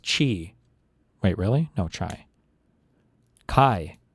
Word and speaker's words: Chi: college, he aimed to start a Theta Delta Chai.